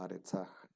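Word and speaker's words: אַרְצָהּ: Y termina también con un aj, con un mapik, aquí como su tierra de ella, como aretzaj.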